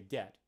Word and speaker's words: debt: me and you're saying okay dead it's spelled with D EBT spelled with a silent B where'd the baby come